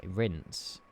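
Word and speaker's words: Reims: It's apparently pronounced something like how a French person would say rinse.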